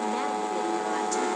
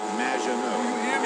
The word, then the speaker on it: Maginot: Magvinot, welcome to the show. Thanks, Amy. However, you have mispronounced my name. It's Madge, which rhymes with badge, as in duh, and no as in more than you. Maginot.